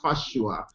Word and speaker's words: Fasua: The name is pronounced Fasua.